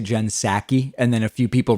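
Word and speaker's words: Psaki: pronounce it correctly yes it's jen saki with a a a short no yes a soft a instead of instead of saki jen saki bye bye so i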